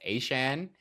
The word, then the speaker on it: Etienne: Uh this is the same week that we also had what we thought was Travis Etienne say that he prefers there that it's meant to be pronounced A chain.